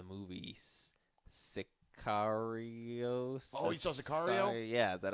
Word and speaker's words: Sicario: Oh, you saw Sicario?